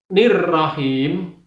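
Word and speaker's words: الرحيم: lafal nirrahim, him itu ada ya mati didahului dengan kasroh, maka cara membacanya harus dua ketok. Ar-Rahmanir-Rahim, nirrahim, nirrahim, nirrahim, dua ketok.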